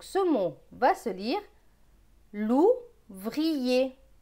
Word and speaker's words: l'ouvrier: Donc ce mot va se lire l'ouvrier. L'ouvrier. On prononce bien le i.